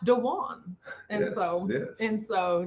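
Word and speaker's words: Duane: right yeah it's that's traditionally dwayne but his brother's name is pronounced dejuan and so yes and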